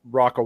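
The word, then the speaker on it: Rocca: I'm like I wonder if Algarand's Rocka wallet and I can't I don't know if it's Rocka or ROA. I always mispronounce Rocka. Yeah, Rocka. Rocka is Italian for fortress.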